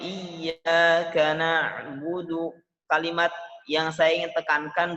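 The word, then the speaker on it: إياك نعبد: Pengucapan iyyaka na'budu, kalimat ba-nya diringankan. Iyyaka na'budu wa iyyaka nasta'in. Tidak menghembuskan napas pada iyyaka na'budu, budu, ba dan dalnya tidak mengalirkan nafas.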